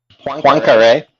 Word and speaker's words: Poincaré: Poincaré. How do you spell that?